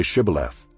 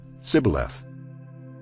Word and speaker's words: Shibboleth: When he said no, they said to him, Then say Shibboleth. And he said, Sibboleth, for he could not pronounce it right.